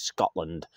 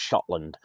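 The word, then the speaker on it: Schottland: one's called Scotland and it says Scotland he's very it's pronounced shotland it's a bit taller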